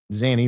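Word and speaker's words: Zanny: She told police that Zany, the nanny, Zany rhymes with nanny, uh that Zany had kidnapped Kaye all the way back on June 9th.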